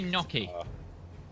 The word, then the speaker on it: gnocchi: it found it Alexa will correct the correct pronunciation in the USA and everywhere show me no key it searched it for me it's I think